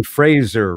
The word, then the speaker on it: Fraser: I mean, so I would ride around in my car going, Brendan Fraser rhymes with razor.